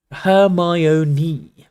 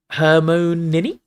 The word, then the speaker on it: Hermione: Hermione was now teaching Crumb to say her name properly. He kept calling her own. "Hermione," she said slowly and clearly. "Hermoni."